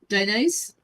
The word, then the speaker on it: Dionys: Is it Dionyse or is it a different pronunciation? I mean, Dionyse is how you say it, but it's Dionys because I'm Hispanic. Okay, Dionys. Oh, D, like a D-E.